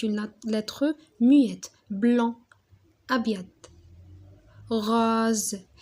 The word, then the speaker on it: rose: rose الاس كي يكون قدامها فوايل وموراها فوايل ما نطقوهاش اس نطقوها زد.